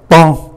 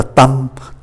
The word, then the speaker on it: temps: Các anh chị để ý S không phát âm, S cuối không phát âm. M đứng trước P thì phát âm là N. Do đó chữ này phát âm là ton. Nhiều người cũng còn phát âm không có chuẩn đó, đọc là tâm, ton. Ton như là tăng ca, tăng gia.